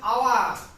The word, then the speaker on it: hour: And the second, he has wasted this hour. Though there is H, but its sound is silent.